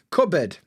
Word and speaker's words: cupboard: in the cupboard for cupboard is such a weird one cupboard if you were to like spell it out it would be c u BB CB it's actually spelled c u PB cup bird and we don't say board not cup board cupboard cupo